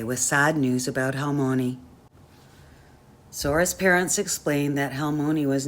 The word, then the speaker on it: Sora: how how Mooney would say her name with a soft s and a gently rolled R she felt sad about